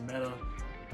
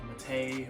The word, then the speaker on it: METE: mechanic meta sft Pro I know some people will say I'm saying the name wrong and that's because I say meta versus actually like mate or something like that I'm just